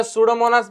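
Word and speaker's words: Pseudomonas: लक्षात येईल सगळ्यात पहिल सुडोमनास बॅक्टेरिया ओके आर युजफुल त्याचे स्पेलिंग बघा पी पासून स्टार्ट होते पण पी सायलेंट असत बरोबर नाही जसं की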